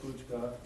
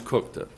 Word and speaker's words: Kuchka: local ordinance did mayor kuchka in his capacity as chairman of it's pronounce cooka thank you sorry sir